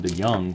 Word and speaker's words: DeJong: Here's Paul DeJong. When I first saw him, I thought his name was pronounced DeJong, but everybody calls him DeYoung from what I understand, so that's what we'll go with.